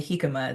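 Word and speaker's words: jícama: In English, we don't usually say the J like an English J.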